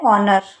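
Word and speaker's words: honour: तो देखो यहां पर जो ऑनर है वो स्टार्ट तो किससे हो रहा है? एच से। लेकिन हम इसको बोलते क्या है? ऑनर। ठीक है? ये साइलेंट रहता है।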